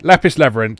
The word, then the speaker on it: Lapis x Labyrinth: Do you say the cross or not? I don't think you say the cross. Yeah. Okay. Lapis Labyrinth. Then that's agreed. We'll call it that. So, Lapis Labyrinth is Nippon Ichi's new